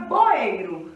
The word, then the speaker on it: boeiro: Então a sílaba que mais demorou foi o ei.